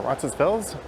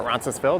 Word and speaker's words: Roncesvalles: This is the traditionally Polish village of Roncy, or Roncesvalles, or Roncesvalles, depending on who you talk to. Some pronounce the S, some don't.